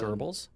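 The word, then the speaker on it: Goebbels: But Tucker Carlson is truly the gobbles of Tucker. I think it's pronounced Gerbles.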